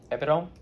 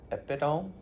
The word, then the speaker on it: epitome: Epitome. Try it again. Epitome. 4 syllables. Epitome.